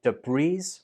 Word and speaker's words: debris: The important thing to note here is that the S is silent. So don't say debris, say debris, or say debris.